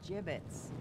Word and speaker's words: gibbets: Gibbets. What? It's pronounced gibbets.